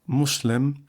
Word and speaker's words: Muslim: m in preference to Muslim m u s l i m as most Europeans unacquainted with Arabic pronounce the u in Muslim as in public.